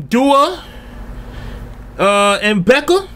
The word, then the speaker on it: Doernbecher: back big homie this is dawn trip um dual and Becca see that's how you pronounce that free staff you know I mean